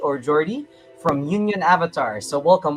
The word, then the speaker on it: Jordi: Next up, we have um I don't know if I'm pronouncing correctly, Hordi or Jordi from Union Avatar. So, welcome. Welcome. Hello. Hello everybody. Yeah, my name is uh Jordi.